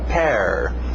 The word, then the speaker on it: pair: E sim, é a mesma pronúncia de pera, pair.